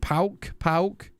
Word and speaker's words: PAOK: It's just more of one word like pork. Yeah, I don't know how to say it. Pauk, like that, right? Yeah, I sort of knew that, Serve, and then I didn't want to go for it. Pauk, like that, yeah. Not pork. Pauk.